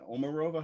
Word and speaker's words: Omarova: did a great video on omarova is that omarova how do you pronounce it yeah stala omarova some people said